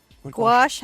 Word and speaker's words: gouache: Gouache, how it's spelled? No. Gauche.